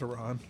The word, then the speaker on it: Iran: It's pronounced Iran.